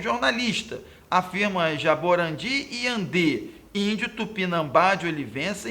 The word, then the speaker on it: tupinambá: No item B, o acento do termo no tupinambá se justifica porque a sílaba tônica recai na penúltima? Não, gente, ela cai na última. É uma palavra oxítona.